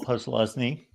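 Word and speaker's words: Posluszny: Micah Parsons, LeVar Arrington, or Paul Plusnowski, which I'm sure I butchered his name. Not really. You got it. Oh, okay. To my surprise. Paul Plusnowski.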